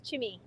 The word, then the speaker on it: Chemi: And people don't pronounce it as Cami. Yes, it's Chimi. Chimi. Hi. But it sounds more like Cami, but it's Chimi.